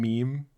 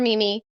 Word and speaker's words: Meme: Wait, can you explain meme to our audience and to Dr. Matt? Oh, absolutely. So Meme or Mimi, her name is spelled Meme, is one of the